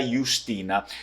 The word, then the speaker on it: Jiustina: mesmo essa dele é Justina porque é escrito com a longa o j o J no Veneto não tem som de J não é francês e nem português né Justina é som